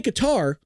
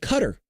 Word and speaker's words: Qatar: You could say Qatar, but it's called Cutter.